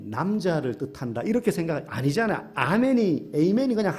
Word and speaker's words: amen: 불려지는 신의 이름으로 기도합니다 a매는 이제 아멘의 영어식 발음이죠 에이맨 알파벳 철자가 amen이니까 n이 남자를 뜻한다 이렇게 생각을 아니잖아 아멘이 에이맨이 그냥 한 단어예요 a1이 그냥 히브리어 그렇게